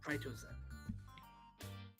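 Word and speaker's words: Prytozen: even, I guess, door-to-door salesmen are running, called Pritizen. Pritizen? Pritizen. Alright. Do I need to spell it out for you, dear? Sure. P-R-Y-T-O-Z-E-N. Pritozen.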